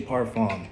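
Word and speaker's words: parfum: So, you know, when you pronounce it right, you know, especially uh you see the word like parfam. Say parfam. Like I know America is super big on genders.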